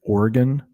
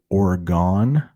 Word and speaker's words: Oregon: Seattle is up here, Portland, Oregon. You might hear some people say Oregon or Oregon. It's got two pronunciations, but there is a Portland, Oregon.